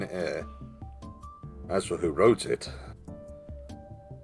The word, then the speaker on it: Eyre: question 8 which english author wrote the novel jane ear jane eyre i'm never 100 sure how you're meant to pronounce no it's pronounced here because i've heard it before so i know it's jane eyre as for who wrote